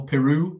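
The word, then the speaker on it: Piroe: Joel Peru, as I now know his name is pronounced.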